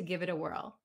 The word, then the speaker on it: give it a whirl: but i'd like to give it a whirl here again let's listen to the pronunciation give it a whirl you'll notice that this t in it becomes a like a d sound give it a give